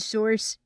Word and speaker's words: source: I'm sure I wouldn't be a good source. Source. Sauce rhymes with horse. Source.